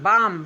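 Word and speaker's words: balm: उसी तरह से बी ए एल एम बाम।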